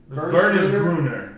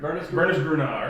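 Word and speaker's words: Wernesgrüner: It's the W is actually pronounced like it's a V. I think it's like Wernesgruner. Wernesgruner or something like that.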